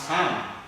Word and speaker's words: psalm: sound of light sing spelling p-s-a-l-m so it should be pronounced as the sun and p will decide it has got another